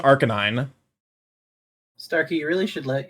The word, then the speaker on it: Arcanine: I moved the emphasis of the word from to the second syllable for whatever reason. Arcanine. As opposed to Arcanine.